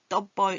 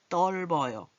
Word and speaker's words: 떫어요: 떨다, 떱다 아니에요. 떱어요. 이게 아니에요. 떫어요.